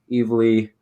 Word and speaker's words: Evely: honored to welcome dusty evely on to the show i hope i pronounced your last name correctly no nailed it man yeah you got an